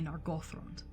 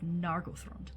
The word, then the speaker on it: Nargothrond: I struggle to say Nargothrond instead of Nargothrond, because Nargothrond rolls off my tongue a lot easier.